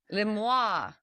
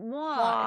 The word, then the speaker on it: moi: Le moi. Like moi. It's moi. It's French. It's a kind of feminine way to say it.